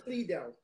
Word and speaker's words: Lidl: Sloan's commenting that I do not know how to pronounce Lidl. Lidl. It is Lidl.